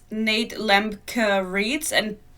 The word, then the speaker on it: Lemke: still up it's Nate lemker reads and Americans keep pronouncing it Lemke but I'm sure he does that himself too but if you were German you would say Lemke which is why I'm